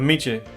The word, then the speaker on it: Michel: Si me dice, si dice como si dijera Che, pero muchos me dicen Michael. So es Miche. So la L no se pronuncia.